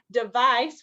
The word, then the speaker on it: device: device and devise good so device with a c it's interesting because it's actually the S sound and then the S we don't we pronounce as a z English is weird so